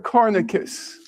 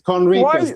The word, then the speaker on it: Conricus: Cornicus. Mr. Cornicus asks the question. Mr. Cornicus asks the question. Why should we? It's Conricus. The N is before the R.